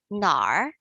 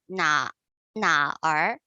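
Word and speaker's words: 哪儿: characters for that however when you are actually pronouncing this you are going to kind of blending a little bit so it sounds like gnar as opposed to na na r i mean northerners say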